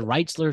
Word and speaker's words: Rentschler: Duke going to, how do you Yeah, pronounce it? Reitzler Field. That should be Rentler. cool. Rentschler Field.